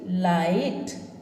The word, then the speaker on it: light: ठीक है, यहाँ पर आप देखेंगे, देखिए LIGHT, लाइट, है ना। IGH का सिर्फ आई साउंड आया है।